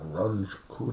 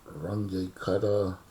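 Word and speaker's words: Runge–Kutta: four it's called well I've heard Runge kutte L Runge Kutta different pronunciations but the idea is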